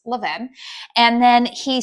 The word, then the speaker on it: Levain: I was like, "Okay, first and foremost, tell me how I'm supposed to be pronouncing this bakery." And he says it's Leven.